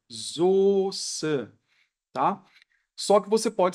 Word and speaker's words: Soße: Essa aqui é a escrita estrangeira da palavra, mas na hora de pronunciar, a gente pronuncia dessa maneira aqui, olha, Soße, tá?